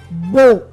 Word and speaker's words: baux: Lorsqu'on loue un appartement et lorsqu'on signe un bail, ce mot au pluriel est dit beau.